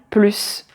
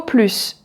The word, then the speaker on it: plus: Ensuite la deuxième phrase je ne veux plus le voir. Je ne veux plus le voir là. Comme c'est une phrase négative, on ne prononce pas le S.